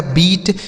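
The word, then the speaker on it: beat: तो हम आपको एक नियम बता रहे हैं कि अगर किसी भी शब्द में इ के साथ ए लिखा गया हो तो इसे हम बड़ी ई की मात्रा पढ़ेंगे।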